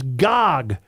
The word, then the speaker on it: Gag: nuts it is gag it is Gog with the a being ah not the way you keep seeing it being from new Alman